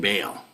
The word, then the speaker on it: Baal: But it's connected to King Baal.